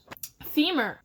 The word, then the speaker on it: femur: have given out and it rhymes with fever and femur they rhyme so here's my impression